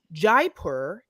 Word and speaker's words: Jaipur: this episode is that I learned that Jaipur is how you say that name because so what'd you